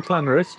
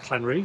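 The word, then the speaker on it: Llanrwst: don't you there's no Clan Roost is there Clan Roost it is Clan Roost but you none of you locals say you there call it clan ro oh we do call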